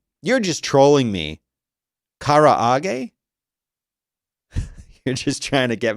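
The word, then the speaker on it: karaage: i don't know but i'm calling it courage like garage because i'm american but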